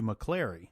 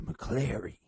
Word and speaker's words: McClary: dead one investigator mw mcclary it's actually pronounced mw mccleary well he decided that